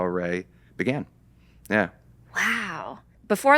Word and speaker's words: Arey: At the time, it was derived from the French word arrêt, to stop. And so we had spelled it differently, closer, to phonetically to how it was there. And then we were like, wait, Arey gray.